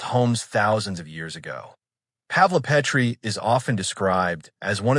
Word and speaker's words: Pavlopetri: Pavlopetri pronounced Pavlopetri.